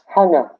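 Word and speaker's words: Kanga: This word starts off with capital K, which sounds like an H, as in hockey. So it's hanga. What? Can you spell it out? Spell it again. Capital K, A-N-G-A. Hanga. Hanna. Yeah. It's like say the word hung in English and just put an A on it.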